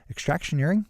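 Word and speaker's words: Extractioneering: that's extraction earring calm which is spelled like engineering but with the word extraction extraction earring calm all right it's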